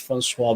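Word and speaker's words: François: in in my head like a french way with the french accent of francois francois yeah yes there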